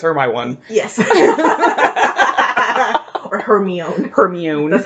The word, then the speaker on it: Hermione: Hermione. That's how I pronounced it.